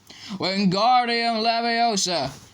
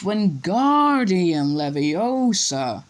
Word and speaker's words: Wingardium Leviosa: Wingardium Leviosa, he shouted waving his long arms like a windmill. You're saying it wrong. I heard Hermione snap. It's Wingardium Leviosa. It's a gar, nice and long.